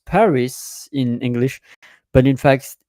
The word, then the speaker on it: Paris: Uh, and I I hear pronouncing and know I know uh like you pronounce Paris in English but in fact it's par. It's not Paris.